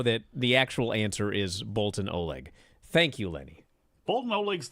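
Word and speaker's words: Boltin Oleg: know the answer is Bolton Oleg both both that's how you say his name and also that is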